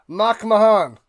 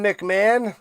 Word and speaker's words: Mahan: Mahan. Instead of McMahon, it's Mahan.